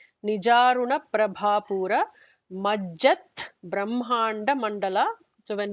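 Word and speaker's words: Prabhāpūra: Bha is the second Bha, the Mahaprana. Nijaruna Prabhapura.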